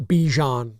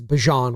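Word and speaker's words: Bijan: It's not Bejan Robinson anymore. What is it? It's Bjon Robinson.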